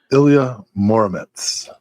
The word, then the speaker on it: Ilya Muromets: The answer is Ilya Muromets. And did I pronounce that right?